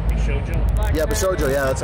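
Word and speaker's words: Bishoujo: Black yeah, Bishojo. Yeah, that's how you pronounce it.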